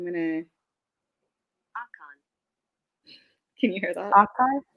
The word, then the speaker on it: Akan: Akan, Akan, Akan. Akan, Like it's AA and then Kaan. Akan.